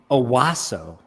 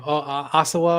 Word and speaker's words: Owasso: And it's Owasso. Owasso. That's where you found this copy press. Yes, that's Owasso. okay. That's how you pronounce it. Okay. Yeah. What was I saying? Osawa or something like that.